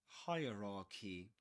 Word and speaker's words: hierarchy: Most people pronounce this word wrong. Do you watch and learn from Luke Thompson? Hierarchy. Hierarchy. Hierarchy. Three parts we try with higher ra he follow for more tips.